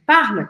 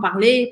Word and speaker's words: parle: Então, você vê que no verbo parle, que significa falar, eu não falo a letra E. Eu não falo parler, parleu, eu não falo parler, não falo parle, eu falo até a letra L.